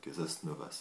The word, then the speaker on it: Casasnovas: Casasnovas, il paraît qu'il faut prononcer le S.